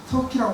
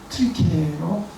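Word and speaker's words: 튀르키예: 여러분, 우리 그래서 지금 우리도 지난주에 우리 터키에 터키로 말하면 이게 터키라고 말하면 안 된다. 그러니까 터키 나라를 좀 편화하고 낮춰서 부르는 발음이래요. 트리키에로 해야지 이걸 그 나라를 존중하는 이름이에요. 트리키에.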